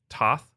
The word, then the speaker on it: Thoth: gods as a kid I learned it pronounced Toth uh and I also heard it pronounced to uh like my dad's uh friend Steve whose last name is to uh and I uh